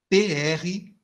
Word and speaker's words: Price: P-R-I-C-E. Provavelmente é Price a pronúncia. Eu estou aqui aportuguesando.